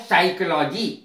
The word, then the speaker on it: psychology: से पूर्व आया क्या प साइलेंट रहता पम साइलेंट है देख लीजिए इसको निमोनिया बोलते हैं ना कि पोनिया एक शब्द होता है साइकोलॉजी साइकोलॉजी में साइकोलॉजी सब्जेक्ट है जिसका हिंदी अर्थ